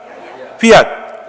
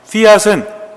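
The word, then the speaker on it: fiat: 또 하나는 피앗. 이 원래 발음은 F 발음이기 때문에 피앗 이렇게 하는데 우리는 그냥 피앗이라고 합니다.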